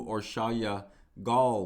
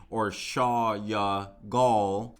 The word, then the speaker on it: Orsolya Gaal: who or shaw yeah i've been pronouncing her name wrong it looks like too or shaw ya gall one friend wrote on